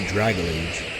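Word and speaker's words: Dragalge: Now we all thought Dragalage, and yes, that is the right way to say it, was a water type at one point.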